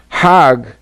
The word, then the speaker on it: Hajj: around in circles now Hajj is a pilgrimage hog is the Egyptian pronunciation hog in Hebrew means